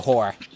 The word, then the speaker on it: horror: And you need to pronounce both R sounds because now it just sounds like you're calling the poor shifter turned aberration a whore.